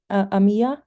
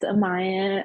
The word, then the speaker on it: Amaya: during this season yes Amia is that how you pronounce your name Amaya it's pronounced Amaya but hello everyone um